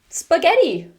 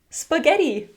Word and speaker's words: spaghetti: Spaghetti. Spaghetti."